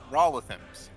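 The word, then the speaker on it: Raulothim: I never know how to say this. Rowlithim's Psychic Lance? Is that? Yep, Rollithim's. Rowlithim's. That's better. Yeah, Rowlithim's.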